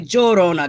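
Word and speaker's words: La Llorona: it's la dorona no the two l's you could pronounce it like a y yo yo rona but if you're puerto rican a lot of puerto ricans will say jorona they pronounce the the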